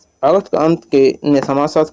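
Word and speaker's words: Comte: में लिखा है कि विभिन्न पुस्तकों अगस्ट कामटे अगस्ट काम या कुम या काम आदि लिखा गया है परंतु वे तमाम गलत है इसका सही उच्चारण अंग्रेजी और फ्रांसीसी भाषा में अगस्ट कन होता है और वही प्रमाणिक भी माना जाता है समाजशास्त्र के जनक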